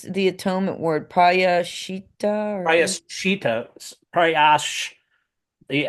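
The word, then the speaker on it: prāyaścitta: It's the atonement word, prayashita or Prayashita, prayash, the S with a slash above it is, prayash.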